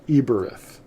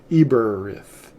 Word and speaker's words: Eberith: it is aramith the the word hebrew is really more correctly pronounced eberth we talked about that earlier eberrith you can back this